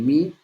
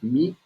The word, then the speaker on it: mu: Y como te decía, el Mi, que esa es la forma correcta de pronunciarlo, Mi, por su nombre en griego, es el de mayor